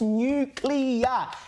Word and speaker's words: nuclear: expensive form of energy you said nuclear like if you can't even pronounce it properly mate you shouldn't be the energy Minister it's nuclear get out add di write the word down and spell it new not nucle and not only are